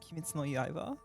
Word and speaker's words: Kimetsu no Yaiba: Kimetsu no Yaiba. Any fans? It's actually pronounced Kimetsu no Yaiba.